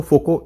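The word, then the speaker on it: Foucault: Technical ज़्यादा थे, ये माइकल फोकोल्ट नहीं बोलते इसको, फोको इन प्रोनाउंसिएशन है when comes to French, but rest depends on यू।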